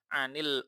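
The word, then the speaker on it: عَنِ: Kisah-kisah dan kabar-kabar, berita-berita anil umami dari umat-umat as-sabiqati yang telah dahulu. Nah, anil sudah jelas ya, bacanya ani. Kenapa ani? Asluhu an.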